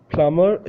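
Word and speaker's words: plumber: प्लम्बर एक noun है और इसमें बी साइलेंट होता है इंग्लिश में, और उर्दू में क्या होता है कि उर्दू में इसमें बी साइलेंट नहीं होता।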